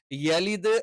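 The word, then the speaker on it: يلد: ആയിട്ട് ലം എന്ന് പറയണം യലിദ് എന്ന് യ എന്ന് തന്നെ പറയണം യെ എന്ന് ഉച്ചരിക്കാൻ പാടില്ല കാരണം അങ്ങനെ ഒരു ഉച്ചാരണം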